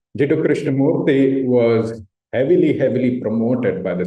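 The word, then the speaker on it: Krishnamurti: And then from the other side, you have this contrasting picture of Annie Besant and Krishnamurthi. By the way, you pronounce it Murthy. Krishnamurthi was heavily promoted by the Theosophical Society and raised up as Alcyone.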